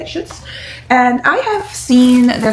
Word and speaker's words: Schutz: So okay, the next thing was we went into this store called Schutz. That's how you say it, Schutz.